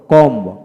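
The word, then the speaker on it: comb: যেমন open, open, old, old, gold, gold, cold, cold, hold, hold, most, most, total, total, কর, কর, কম, কম, কম, ম উচ্চারিত, ব হবে না।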